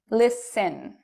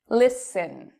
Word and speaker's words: listen: do we say it listen listen so you cannot hear a t I do not say listen I say it with an S but no T listen soften soften okay